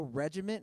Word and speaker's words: regimen: I don't follow a regiment, and that's what I love. Like, yesterday, It's shit. regimen. There's no T on the end there. Regiment, not regiment.